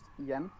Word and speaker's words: Jan: in Danish, it's actually pronounced Jan, but it doesn't seem like anyone can actually say that. So I think Jan is cool.